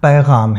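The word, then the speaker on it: पैग़ाम: का अरमान भरा पैगाम पैगाम के ग के नीचे नुक्ता है इसलिए व है याद रखिएगा अरमान भरा पैगाम है ये एक बार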